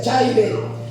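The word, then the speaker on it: χαῖρε: Esta palabra en una palabra griega, amén, que eh se pronuncia chare y dice que significa amén, alégrate.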